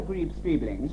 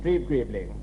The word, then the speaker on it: Streeb-Greebling: We're talking this evening to Sir Arthur Greaves-Streebling. Streeb-Greebling.